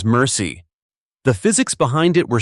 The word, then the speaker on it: MRSI: Multiple rounds simultaneous impact, MRSI, pronounced by crews as mercy.